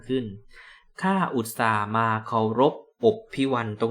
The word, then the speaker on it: อพิว: ข้า อุตส่าห์ มา เคารพ อพิว ตรง นี้ อ่าน เอื้อ สัมผัส นะ ครับ ไม่ อ่าน ว่า อภิว อพิว เพราะ จะ ได้ คล้อง จับ คำ ว่า รบ นะ ครับ ด้วย ตัว